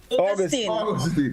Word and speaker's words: Augustine: Augustine. Pronounce the word August.